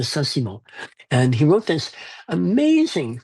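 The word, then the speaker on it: Saint-Simon: Simon and that's how it read but it's pronounced Nicole de Sassimo and he wrote this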